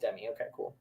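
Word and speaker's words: Demme: is about Jonathan yeah it is pronounced Demi okay never mind yeah I would have thought it would be like a French thing like Den but no Demi it's not making any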